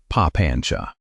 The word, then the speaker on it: papañca: The word he used was papañca — say it like "pa-PAN-cha."